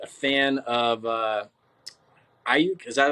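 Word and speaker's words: Aiyuk: I'm still not a fan of Ayuk.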